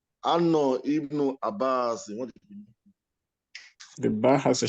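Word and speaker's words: ابن: If you were at the beginning, if I'm starting with this, if I were starting with it, I would have pronounced the alif with a kasra. I would say Ibn Abbas, Ibn Mas'ud, Ibn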